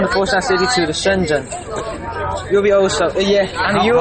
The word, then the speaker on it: Shenzhen: Shenzhen.